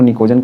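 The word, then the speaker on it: pnictogen: तो नाइट्रोजन परिवार जो होता है इसको निकोजन कहते हैं, यहाँ पी साइलेंट है, ठीक है।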